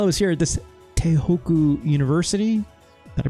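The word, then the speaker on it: Tohoku: And then while I was here at this Tehoku University, did I pronounce that right? Yeah, Tehoku, I found this uh school statistics.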